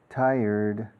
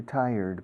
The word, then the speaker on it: tired: Tired. Aprended ahora la pronunciación de tired, por favor. Tired. Recordad lo que os dije ayer, como taller mecánico. Taller. Acentúa la primera sílaba.